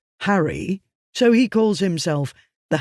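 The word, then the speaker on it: Harray: He lives in an area near the Loch of Harry, spelled A-Y but pronounced Harry, so he calls himself the Harry Potter.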